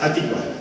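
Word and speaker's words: Hatikvah: El himno hebreo se llama Atikva. Es decir, Atikva, A es el artículo definido, ¿no es cierto? Atikva, es Atikva.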